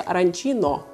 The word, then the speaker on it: arancino: А вот в Восточной Сицилии, там, где находится Катания, это блюдо мужского рода, поэтому произносится «аранчино».